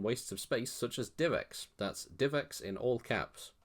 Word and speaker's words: DivX: idea to name it DivX. That's capital D, lowercase IV, capital X, pronounced exactly the same.